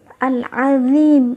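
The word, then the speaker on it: al-ʻAẓīm: Selanjutnya, yang ketiga adalah al-azim. Al-azim ini bacanya al-azim, ya, teman-teman, bukan pakai zat, bukan pakai zai, tapi pakai dha. Al-azim.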